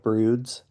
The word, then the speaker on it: Broods: Um, and so we started a band called Broods, Rhymes with Dudes.